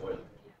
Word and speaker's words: Euler: It's pronounced Euler.